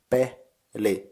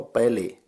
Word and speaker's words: peli: In syllables it's peli, like pe in pendant, li like in lizard. So peli.